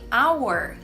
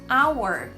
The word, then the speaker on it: hour: É uma exceção, como é o caso de hour, hour. Você percebe que o H na palavra hour, ele é inexistente, ele não tem som?